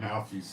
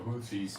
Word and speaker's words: Houthis: I don't know why I call them Houthis instead of Houthis, because they spell it in English with an H, which is not pronounced as a W.